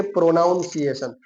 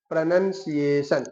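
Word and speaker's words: pronunciation: नॉट के प्रोनाउंसिएशन। लिखा होगा ना तो आप यूं ही पढ़ोगे कि यह तो प्रोनाउंसिएशन लिखा है। नहीं उसका सही प्रोनंसिएशन यही होता है कि आप बोले प्रोनंसिएशन।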